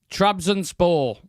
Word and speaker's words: Trabzonspor: Shreyas, you might be best to pronounce that. Is that Trabzonspor? Trabzonspor.